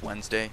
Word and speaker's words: Wednesday: with an R uh today's Wednesday spelled with a d and a wed it's like wed Nest day but everybody just says Wednesday I don't really know